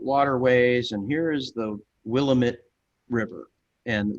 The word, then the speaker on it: Willamette: and here is the willamette river and the person narrating it um mispronounced willamette i turned off the video and i said ah he said we'll admit you know and then